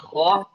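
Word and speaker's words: خ: Kho itu di ujung tenggorokan atas. Ini ada bawah, tengah, atas. Kho. Karena banyak yang terbaca kho-nya itu, banyak yang membaca kho dan ro itu di tempat huruf G-nya Indonesia. G, kho. Jadi sudah di langit-langit jatuhnya, bukan lagi di tenggorokan atas.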